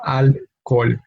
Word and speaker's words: alcohol: No, in alcohol, we keep the H as silent, and therefore we only have two syllables. No, alcohol.